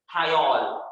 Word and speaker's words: thiol: it is called as thiol, it is called as thiol. How to pronounce? Thiol. S stands for thigh, alcohol का suffix OL, so thiol.